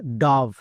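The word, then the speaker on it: dove: এবং শেষের ই সাইলেন্ট তাহলে এর উচ্চারণ ডব হবে না অনেকেই ভুল করছো আজকের পর থেকে আর ভুল করবা না ওকে তাহলে এর উচ্চারণ কি হবে ডভ ও এর পরে ভিই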